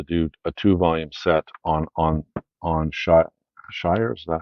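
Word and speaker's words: Shirer: Um, but I guess the International Collectors Library decided to do a two-volume set on Shire. Is that how you pronounce his name? Shearer, William L.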